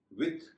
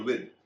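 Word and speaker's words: with: इसी तरह विथ और विद दोनों उच्चारण हैं। आप जो भी उच्चारण करना चाहें कर सकते हैं, लेकिन विदाउट और विद इन में आमतौर पर द उच्चारण ही चलता है, हालांकि इसके थ उच्चारण भी मान्य है।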